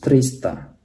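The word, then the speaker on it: триста: 200 itu bahasa Rusianya dvesti. Ya 300 trista. Penekannya di sini ya.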